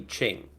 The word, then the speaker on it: Qing: and then the the king dynasty or the i don't know the pronunciation but q-i-n-g so the yeah i believe that'll be that'll be ching so the qing dynasty ended